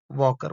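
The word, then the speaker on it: walker: वॉकर में L silent होता है। तो एल नहीं बोलते वॉकर बोलते हैं।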